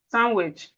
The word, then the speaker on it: sandwich: Sandwich. The D is silent.